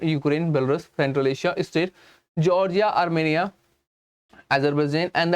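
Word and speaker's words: Tsar: यहाँ पे मैंने जार बोला, टी वॉज द साइलेंट, याद रखना टी क्या है, यहाँ पे एक साइलेंट है, इसलिए से कहा गया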